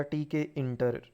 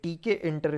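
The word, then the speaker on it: Tkinter: यूज होता है यह टी के इंटर इसको प्रोनाउंस करना है टिक इंटर नहीं ओके ए को पकड़ा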